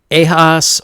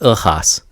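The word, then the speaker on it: Ehasz: man named Aaron Eyre a hoss or I believe it's more of a Hungarian pronunciation Haas I don't know I'm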